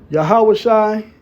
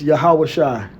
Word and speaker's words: Yahawashi: The final I gives the I am ending. Not a silent ah but a lifted throaty vow that can indeed come across like I in sound. So there you go Yahawashi.